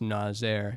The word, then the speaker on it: Nazer: But I like Nazer. It's like laser, but oh, that is true. I mean, if we're in Iran, it would probably be pronounced Nazer. That's the actual one, but that's like a lot to put people through, I think.